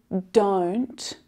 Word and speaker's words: don't: One is that vowel sound changes. O, don't, is different to oo, do, do, don't. The second is that stop T, which is really, really common. Instead of hearing that T sound fully aspirated with that release of air to make the sound, the stop T stops it short before the air is released.